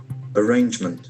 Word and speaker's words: arrangement: The letter A has got a sound. Arrangement. Arrangement has got three syllables. Arrangement. Arrangement and action falls on the second syllable.